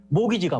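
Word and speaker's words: mortgage: 볼 수가 있죠 자 모터 게이지 이게 목이지거든요 모기지가 모터플러스 게이지잖아요 모터는 원래 죽음입니다 묵음이 되는 거예요 영어로 할 때는 죽음을 담보로 돈을 빌리는게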